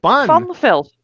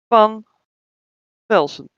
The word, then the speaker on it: Van Velsen: It's not Von, it's Van. Vaughn. No, Van. Fun. Van Velsen. Yeah, Van Velsen.